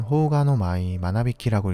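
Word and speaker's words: 蜂牙ノ舞真靡き: 일본어로는 호우가노 마이, 마나비키라고 읽습니다.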